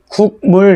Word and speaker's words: 국물: 자, 그래서 다른 예를 한번 들어보면 뭐 예를 들어 국물 이렇게 했을 때 여러분 국물 이거 발음이 어렵잖아요.